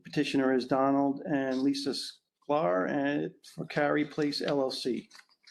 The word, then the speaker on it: Sklar: The petitioner is Donald and Lisa Sklar and for Carey Place LLC. Did I pronounce that Sclair.